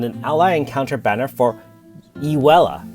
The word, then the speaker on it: Ewella: ally encounter banner for Ewella. I guess Waira, there's a few different pronunciations and spellings based on Japan, and of course we get Ewella.